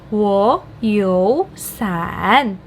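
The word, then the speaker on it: 我有三: Nah, tadi kan kita sudah membahas kalau 2 nada 3 ketemu, salah satu harus ngalah nih jadi nada 2. Jadi kita tahu yang wo itu pasti dibacanya jadi nada 2, wo, ya kan? Nah, bagaimana dengan kalau 3 kayak gini? Nah, kita dengan menggunakan prinsip yang sama, jadinya wo, yo, san.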